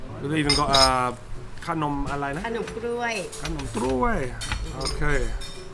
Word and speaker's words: ขนมกล้วย: We've even got ขนมอะไรนะ ขนมกล้วย ขนมกล้วย Okay. You have to pronounce be carefully ขนมกล้วย If you pronounce not right you gonna be another naughty word ขนมกล้วย Do you know what?